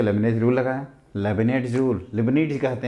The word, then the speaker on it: Leibnitz: आपका integral calculus का लिबनिट्ज rule. लिबनिट्ज, LIBNITZ, है ना। लिबनिट्ज हम लोग लेबनिट्ज कह देते हैं शॉर्ट में। तो आप प्रोनाउंस कुछ भी करिए, कुल मिला के रूल्स का ध्यान रखिए।